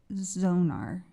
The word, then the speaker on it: Zonar: a bit more also I'm happy to know it's pronounced Zonar I was thinking bad at my phonics thank you I'm good